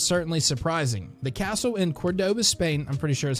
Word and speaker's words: Córdoba: The castle in Córdoba, Spain, I'm pretty sure is how you say